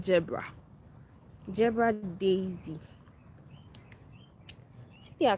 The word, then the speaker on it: Gerbera: Some people call it Gebera, but we call it Gebra.